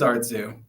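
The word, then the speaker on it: Artzoo: this correctly or how am I supposed to pronounce this that is Artu yes art the correct pronunciation and um so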